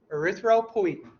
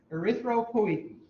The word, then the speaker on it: erythropoietin: me, you got to be brave here because pronunciation is tough. What's the name of the hormone that the kidney produces? Very good. Erythropoietin. Erythropoietin.